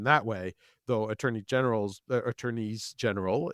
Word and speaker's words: Attorneys General: way though attorney general's Attorneys General is the proper pronunciation though it sounds weird Attorneys General were getting